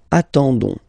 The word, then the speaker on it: attendons: nous, so ons, okay, you don't pronounce the s, so you get only this on sound, okay. Attendons, nous attendons, so we'll make the link between the two, la liaison.